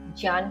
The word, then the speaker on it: ज्ञान: पहली ज्ञान योग के माध्यम से ज्ञान योगी ज्ञान अर्थात ज्ञान सही उच्चारण ज्ञान होता है। इसलिए मेरे द्वारा इसे ज्ञान उच्चारित किया जा रहा है।